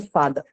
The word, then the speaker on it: father: an example you know words like father right father so usually what happens in the Indian context uh the general pronunciation uses father or teacher right brother the last verse sound that you see in the spelling of father is in fact not articulated right you only say father speaker feature so R